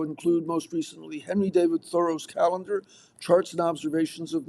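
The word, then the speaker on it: Thoreau: I put my stock in the regular way, she said, thorough, like a lay person would say it.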